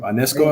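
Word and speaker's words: Ionescu: The way Sabrina, how do you pronounce her last name? Ionesco, I believe. Yeah, Ionesco.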